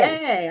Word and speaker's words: Laryea: Now, your last name is pronounced uh is it pronounced Laria? Laurier. Laurier.